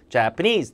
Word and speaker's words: Japanese: Japanese people 해도 되고 양쪽에 강세주고 Japanese.